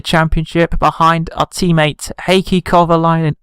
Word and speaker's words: Kovalainen: behind our teammate Heikki Kovalainen or Kovalainen as i supposed to pronounce him so let's see what